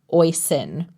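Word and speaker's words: Oisín: said, "This must be Oisin." Liam asked me why I said it like that. I asked what he meant. He said it's pronounced like Oisin, like hoisin sauce without the H.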